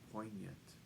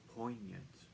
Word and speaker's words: poignant: subtle is correct likewise poignant has a silent letter G point poignant poignant when I was in